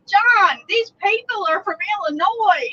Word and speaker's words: Illinois: peeve there is no the s is silent on illinois don't get mad at